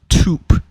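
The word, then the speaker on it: twp: And by the way, this is pronounced toop. I believe that's a Welsh word because you know you have the W in the middle acting as a vowel.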